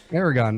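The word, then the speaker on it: Aragón: I can't even pronounce the track name. Aragon. I don't even own it. So Aragon, thank you.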